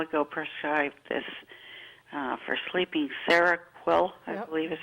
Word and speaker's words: Seroquel: But she, a while ago, prescribed this for sleeping, Seroquel, I Yep. believe is how you pronounce.